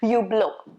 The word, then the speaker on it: Hublot: T is silent and H is also supposed to be silent, supposed to be Hublot.